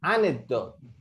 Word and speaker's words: anecdote: Oh, read the anecdote. Anecdote. Anecdote. No se pronuncia la E.